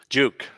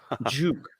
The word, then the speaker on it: jOOQ: to the stage hello i how do you pronounce it juke juke yes yeah so it's it's a database library